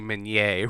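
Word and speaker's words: Minié: my senior year and he wanted to drill that into everybody in the room you say menye when you're in my classroom wait uh oh yeah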